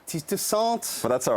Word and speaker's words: Toussaint: Steve Toussaint. Did I pronounce all or any of those correctly? Steve Toussaint. Steve Toussaint.